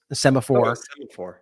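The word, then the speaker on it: Semafor: And I read this article in Semaphore. I think is how you say that site. And it was Semaphore.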